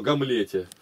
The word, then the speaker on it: Гамлете: Извращаешь это ударение-то. Такое слово Гамлете.